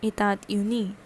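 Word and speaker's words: États-Unis: t s and hyphen u n i s itad uni that is u.s okay and the nationality is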